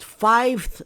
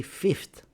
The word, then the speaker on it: fifth: Maybe you think it's five, but fiveth is not a word. We say fifth, sixth, seventh, eighth.